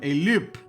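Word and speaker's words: loupe: loop loop.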